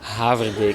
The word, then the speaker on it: Haverbeek: Haverbeek. It's a very Dutch name, actually.